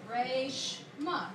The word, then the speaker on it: Reshma: that's pretty phonetic right so it's just Ray sh mock right the actual Indian name way of spelling reshma is r e s h m a but it's still pronounced the same way so my parents decided